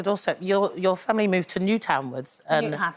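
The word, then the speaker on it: Newtownards: Speaking of your doorstep, your family moved to Newtownwards. Newton Ards, as we'd say back then.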